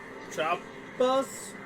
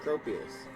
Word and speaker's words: Tropius: Tropus? How do you pronounce that? Tropius.